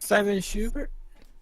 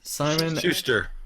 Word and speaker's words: Simon & Schuster: How do you pronounce that, Pineleaf? Simon Schubert? Simon Schuster.